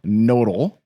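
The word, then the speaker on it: Knodel: So, let's start with a guy named Bob Nodal. K N O D E L. I'm assuming the K is silent.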